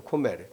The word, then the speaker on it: 고멜: 근데에 원래 원래 발음은 뭐냐면 코메르입니다. 코메르.